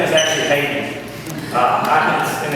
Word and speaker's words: Haydn: His name is actually Haydn. And it's not spelled like normal, but it's actually Haydn.